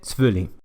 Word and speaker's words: selvfølgelig: O una de mis palabras favoritas, esta palabra que significa por supuesto se pronuncia simplemente selvfølgelig.